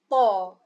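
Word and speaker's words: ط: The first letter today is called Ta. Ta. Letter Ta is pronounced with a fuller mouth, so the sound of Ta is a heavy sound.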